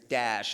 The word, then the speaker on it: Daesh: It's Daesh is sort of how you pronounce the acronym in Arabic.